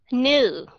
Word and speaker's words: new: bạn ha Ok trong tiếng trong tiếng Anh new k n e w and n w hai